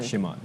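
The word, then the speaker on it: شمال: शिमाल कोई बात नहीं, अगर आप ये शुमाल भी बोलते लोगों को तब भी इसका मतलब समझ में आ जाता है, लेकिन जब आप किसी चीज़ को सही उसके प्रोनाउंसिएशन के साथ इस्तेमाल करें तो वो ज़्यादा अच्छा लग रहा है।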